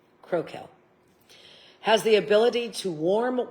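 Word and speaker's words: Crocell: Duke Crokel. They're spelt with C's but pronounced with K's. Crokel.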